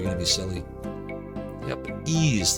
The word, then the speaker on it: Ys: to be silly yep ease the only pronunciation that makes sense it is not wise to mispronounce in um at